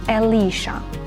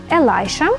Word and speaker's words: Elisha: називають хлопчиків цим іменем часто його вимовляють еліша елайша не плутайте з елайджа елайше це Єлисей елайджа Ілля про нього дивіться у попередньому